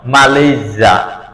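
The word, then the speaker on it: Malaysia: আরেকটা হলো consonant sound যখন এস এর দুই পাশে যখন বাউল সাউন্ড থাকবে তখন এস এর উচ্চারণ জ হবে জ সাউন্ড হবে যেমন ই এই এস ওয়াই ইজি মালজা আমরা বলি মালেজা কেন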